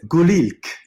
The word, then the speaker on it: Gul: in the film um gink is it gink Blossom oh the cat yes oh yes Gil would be would be the pronunciation the Kurdish word for blossom yeah what amazing cat